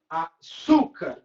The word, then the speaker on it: açúcar: Açúcar, sílaba tônica, su.